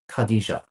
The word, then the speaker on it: Khadija: Moving on to how do you say this name? Khadija? Khadija. Okay.